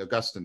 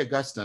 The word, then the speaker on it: Augustine: I'm trying to use the American pronunciation. You guys say Augustine. I was always taught Augustine, so I don't know what that's supposed to mean.